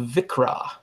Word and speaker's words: viXra: one is is called vikre dot org and vikre is spelled VIX are a right it's just a arxiv backwards all right so it's VI chi